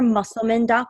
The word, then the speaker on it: Musselman: so my listeners can find me at muscleman home and it's and my last name is spelled mus SEL ma n comm and they